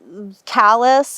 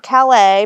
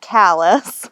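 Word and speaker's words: Calais: your your driveway and hit the tril now callus is the closest town not Cal but Callis I hear a lot of people pronounce it cal um so callus is about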